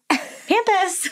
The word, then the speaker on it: Pampas: Also, she pronounces it Pampas. It is absolutely pronounced Pampas. It's absolutely Pampas.